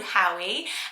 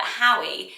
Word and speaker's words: Howie: just 3 babies called Howie. And I was like, I actually think it's adorable. It rhymes with Bowie. We like Bowie as a name, Bowie. But Howie, so it's really cute.